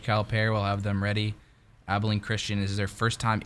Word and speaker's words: Abilene: other side we got number two Kentucky versus Abilene Christian am i pronouncing that right yep you are all right